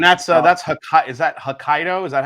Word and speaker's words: Hokkaido: anywhere else and that's uh that's is that Hokkaido is that how you say it yes okay